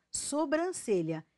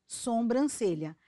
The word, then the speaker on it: sobrancelha: cabeçalho e não cabeçário preste muita atenção à nasalização de vogais diga Ou escreva sobrancelha e não sombrancelha mendigo e não mendingo